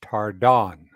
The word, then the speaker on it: Tardan: say your name wrong it's French so it's pronounced like an O So and it's on the second syllable so it's tardon because everyone calls her